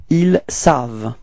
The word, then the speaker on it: savent: Okay, so keep in mind that ENT, okay, the ending is not pronounced, so it's only savent, v, v, v, v. It ends with the sound v.